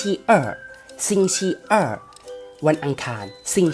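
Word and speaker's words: 星期二: ภาษา จีน ออก เสียง ว่า สิ่ง ที่ อ่ะ สิ่ง ชิ อ่ะ วัน อังคาร สิ่ง ฉี่ อ่ะ วัน พุธ ชุด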